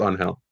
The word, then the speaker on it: Angel: So yeah, go ahead and post just like Is it pronounced Angel, Angel? How do you pronounce it? He prefers on hell.